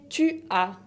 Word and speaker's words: tu as: La deuxième personne du singulier se dice tu as. Tu as, con la S final qui ne se prononce pas. Le S final ne se prononce pas, tu as.